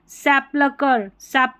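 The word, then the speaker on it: sepulchre: Scheme, scholar, school, ये है सैपलकर, यहाँ पर सैपलकर करके या सैपलकर ऐसे पढ़ देना आपको।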